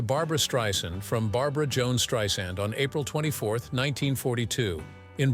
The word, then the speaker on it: Streisand: z sound like in strand she says the name is actually pronounced correctly like this sand on the beach in 2016 after noticing